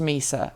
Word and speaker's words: Mysa: from Mesa however and it's pronounced Mesa you know like Jar Jar Binks these are so smart